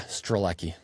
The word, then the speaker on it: Strelecky: Before we start, tell me, am I pronouncing your last name correctly? Yeah, Strleki.